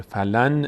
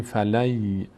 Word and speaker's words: فلن: درباره الان اینجا مهم اینه که نون تلفظ نمیشه فلن نمیگیم فلن یخلف میگیم فلی فلی یخف لفظ جلاله اینجا